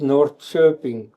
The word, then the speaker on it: Norrköping: in Sweden words where you write K and you still pronounce ch, like for Norrköping written, pronounced Norrköping.